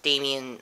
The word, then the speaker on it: Damian: the debut uh for Damian not Daman I keep saying he